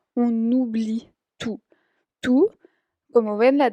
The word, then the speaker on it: on oublie: Entonces ahí ven que también hay la liaison ahí con la N y la O que es una vocal. On oublie tout.